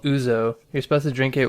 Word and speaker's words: ouzo: like, no, it's ouzo. O-U-Z-O, ouzo. That's how I say it.